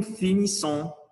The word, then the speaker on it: finissons: Nous finissons, comme c'est double S, on va prononcer S. C'est pas Z, sinon S. Nous finissons, vous finissez, ils finissent, elles finissent.